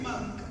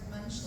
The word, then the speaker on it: Munch: I feel like in America you say mooch or monk. I say monk, but it's Edward Munch, The Scream?